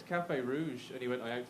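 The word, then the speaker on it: Café Rouge: And he went, Cafe Rogue. And I said, no, mate, it's Cafe Rouge.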